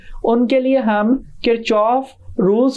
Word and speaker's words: Kirchhoff: बात बताता चलू कि यह जो वर्ड है किरचॉफ इसे बाज कात किर कफ भी प्रोनाउंस कर दिया जाता है लेकिन जर्मन लैंग्वेज में यह किरचॉफ प्रोनंसिएशन एक्चुअल नेम के साथ ज्यादा करीब है इस रूल के और